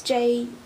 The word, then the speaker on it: Juneau: It's J-U-N-E-A-U, Juneau, in Alaska.